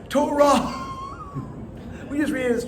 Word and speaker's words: Torah: for example, the word Torah is spelled with a hey at the end. We don't read it as Torah.